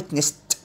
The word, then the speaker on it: witnessed: witness فعل عادي witnessed، لأن طبعا السه voiceless فبننطق الده ته، فتبقى witnessed.